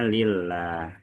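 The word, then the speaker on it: لله: Kalau yang tidak pakai alif maka bacanya lillah ya. Huruf depannya adalah li.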